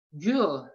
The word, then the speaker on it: gül: Nah, gimana sih cara membaca U yang ada titik duanya? Itu cara membacanya itu yaitu manyunkan bibirnya ke depan, dan ucapkan huruf U.